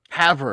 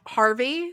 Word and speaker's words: Havre: Havre. Havre. Okay. Havre. I was about to guess Harvey, so like we're getting Nope.